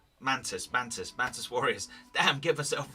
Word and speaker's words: Mantis Warriors: one, where I'm facing off against the Preacher's Mantic Warriors. Now, the Mantic Warriors, or am I saying it right? Mantis Warriors.